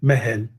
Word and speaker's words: Mahal: E em vez de Mahal, né, do Taj Mahal, por exemplo, Taj Mahal, né, na pronúncia de Delhi e tal, é essa aqui, né, Mehel, tá? Então, Taj Mehel.